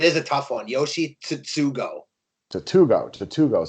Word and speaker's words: Tsutsugo: Yoshi Tsutsugo.